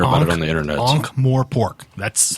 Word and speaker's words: Ankh-Morpork: I'm sure you just totally mispronounced that, and we're going to hear about it on the internet. Ankh-Morpork.